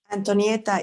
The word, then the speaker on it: Antonietta: good morning, good Antonietta? evening. How do we pronounce it correctly? Antonietta is fine. I'm Antonietta.